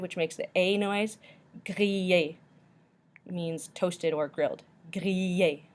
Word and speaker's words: griller: In French, when you have an ILL, it's pronounced like E with a little Y stuck to the end. E. So, for example, in the word griller, griller.